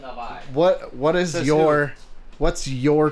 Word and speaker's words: Navi: Not a Navi. It's pronounced Navi.